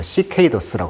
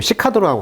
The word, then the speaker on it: cicadas: 자, 매미란 영어 표현이요, 강세가 지금 여기 있는데, 이게 이제 A 발음이죠. 그래서 cicadas라고 합니다. cicadas. 어떤 발음은 좀 시카도라고 하기도 해요.